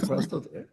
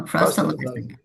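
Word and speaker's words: proselytizing: evangelism uh proism proilitizing right I say it properly prost no proilitizing in other words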